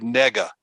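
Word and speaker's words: נגע: The Hebrew word, now this is extra, the Hebrew word that we're going to use for affliction is the word nega. Nega is spelled N or Nun, Gimel, Ein.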